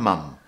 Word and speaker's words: mom: Instead of using the old-fashioned housewife, we can say the more modern full-time mom or stay-at-home mom. By the way, in the UK, we say mum, but in the USA, they say mom.